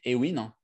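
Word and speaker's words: Awin: et dans le monde, je pense actuellement, c'est Ewin. Ewin qui s'écrit A-W-I-N.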